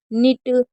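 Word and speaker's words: knit: जैसे के एन अगर कभी भी आपको साथ में दिखे शुरू में तो हमेशा के को साइलेंट रखना है, यानी कि के को आपको नहीं पढ़ना है।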